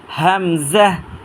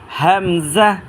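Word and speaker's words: ء: হইতে হরফটা উচ্চারণ করবেন হাফটার নাম হচ্ছে হামজা আমরা এটা উচ্চারণ করব এই হায় জায়গা থেকে আমরা উচ্চারণ করেছি একই জায়গা থেকে এটা উচ্চারণ করি তিনবার উচ্চারণ করি ইনশাল্লাহ হামজাহ হামজাহ এ হরফটার নাম হচ্ছে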